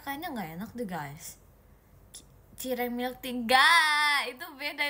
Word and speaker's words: cireng: Sireng. Syireng. Bukan bacanya cireng, Guys.